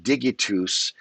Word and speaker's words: digitus: And I believe that is pronounced digitus, and it's not a soft G.